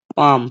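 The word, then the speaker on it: palm: एल पाम पाम में भी L silent है।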